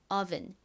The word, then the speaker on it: oven: 한국식으로는 오븐이라고 발음하지만 미국식 원어 발음으로는 여기서가 o보다는 어에 가까운 소리가 나서 oven oven 이렇게 발음합니다.